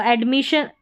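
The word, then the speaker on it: admission: Double S को भी जैसे हम एक S को पढ़ते हैं वैसे ही डबल S का उच्चारण होगा, तो यहाँ पर श करके है। तो एडमिशन, यहाँ पर परमिशन और ये एडमिशन है, यहाँ पर भी शन पढ़ा है, डबल S आ रहा है।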